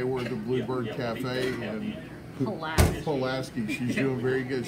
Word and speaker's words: Pulaski: the Bluebird Cafe and Pulaski she's doing very good she was saying the food Lasky that is not the right pronunciation so she's gonna be